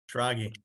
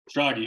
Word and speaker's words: Schrage: Schrage. Schrage.